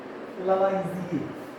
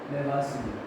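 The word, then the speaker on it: Lavoisier: लावाइज़िए। या इसको लेवासिए भी कहते हैं, क्योंकि शुद्ध जो इसका प्रोनाउंसिएशन होता है लेवासिए, अंग्रेजी होता है लेवोइज़िए।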